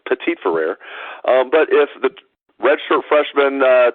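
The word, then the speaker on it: Petit-Frere: pronouncing his name wrong I used to pronounce a pity friend and someone told me was Pettit for rare turns out they were wrong it's petite for rare but if the redshirt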